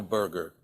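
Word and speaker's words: Berger: over the world burger and that's spelled b r g r okay Burger not like a hamburger but it happens that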